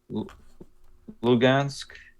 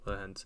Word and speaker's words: Luhansk: Yeah, and it's just the when you see Donetsk and Donetsk, am I pronouncing that right? Lugansk and Donetsk. Okay, Donetsk and Luhansk.